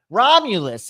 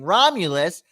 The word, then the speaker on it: Romulus: Apparently, a man by the name of Romulus, let me just make sure, Romulus is how you say his name, Romulus, who built the city of Rome.